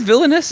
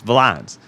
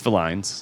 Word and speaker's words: Villines: our host villainous just kid is it villainous no it's not people think it's villainous villain V uh yeah all kinds of pronunciations also I get VIN down south yeah it's Vin um okay but what is it actually it's